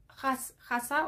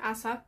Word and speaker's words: Asa: Hasa o Asa, depende cómo lo pronuncies, Asa, que le voy a decir Hasa, no hay una H pelotuda.